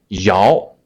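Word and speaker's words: 摇: simple right next one Yao y'all it's like it has the same pronunciation as Yao Ming Yoming The Basque NBA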